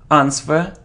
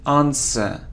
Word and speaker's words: answer: It isn't answer, answer, no, we don't pronounce it, answer, answer.